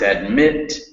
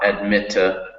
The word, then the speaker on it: admit: So it's admit, not admitta. It's fast, not fasta.